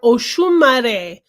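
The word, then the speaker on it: Oxumarê: And so this is for Oshumare. Oxumare is how it is spelled.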